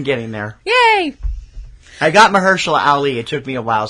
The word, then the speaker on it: Mahershala Ali: I got Mahershala Ali.